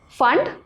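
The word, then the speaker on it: Pfund: series, Brackett series and Fund series. P is silent here, we call it as Fund series.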